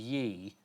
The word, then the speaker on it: Ye: Yeah.